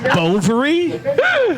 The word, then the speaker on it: Bovary: Bovary? Rhymes with a female body part.